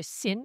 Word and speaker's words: Sin: D'abord, ils étaient à Mara puis à Élim, ensuite dans le désert de Sin, c'est S I N prononcé Sin et puis ils étaient à Ridim où toutes ces activités ont eu lieu.